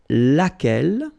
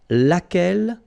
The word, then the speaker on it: lequel: singular we saw it lequel okay so basically same rule q is not pronounced here and then you get